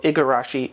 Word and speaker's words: Igarashi: of those words but the name can be pronounced with a G or k so you'll spell it you'll see it's spelled igarashi ikarashi depending on the region of Japan for the person who's